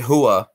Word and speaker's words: Hooah: that it was that it was very Huah and and that's how you pronounce it by the way so